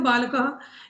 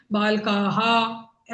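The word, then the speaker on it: बालकः: ह लिखा हुआ है तो आप उस लिखे हुए को देख के उच्चारण करेंगे तो आप बोलेंगे बालकाह ऐसे बोलेंगे लेकिन लेकिन वास्तव में ऐसे नहीं बोला बालका बालक तो अगर जब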